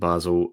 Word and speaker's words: Basel: Okay, well, you mentioned Basel, or Bal, depending on what kind of pronunciation you want.